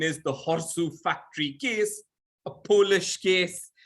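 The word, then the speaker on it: Chorzów: And so, you know, as as we like to pronounce things the way they more or less should be pronounced in the native, the Horsu factory case.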